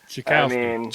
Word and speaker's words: Czechowski: I've been saying Czechowski for 28 years, and I just figured out how to actually say it right. So, Czechowski. I think that's what I'm going with.